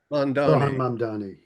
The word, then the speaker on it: Mamdani: Mamdani. Yes, yeah, I need to work on my pronunciation there.